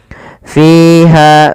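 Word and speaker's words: فيها: Tapi hati-hati ya teman-teman di dalam melafalkan mad thabi'i. Jangan sampai beda-beda panjangnya ada yang panjang lebih atau dia malah kurang. Maka dia cukup dua harakat saja sesuai dengan ayunan. Maka fiha ko, fiha kho gitu ya.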